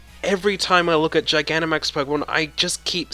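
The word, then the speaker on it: Gigantamax: cuz I said I I keep saying giggity max that's Giganta max Giganta max writes when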